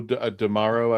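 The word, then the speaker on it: D'Amaro: It rhymes with something tomorrow or it's Joe DeMauro, I believe.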